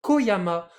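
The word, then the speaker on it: 小山: c'est ch du coup ici bah c'est pas ch San non c'est Koyama parce que ici petit c'est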